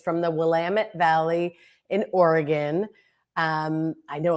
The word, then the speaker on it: Willamette: I know a lot of people mispronounce and say Willamette. They get very upset about that out in Oregon. And they say Willamette, it rhymes with damn it.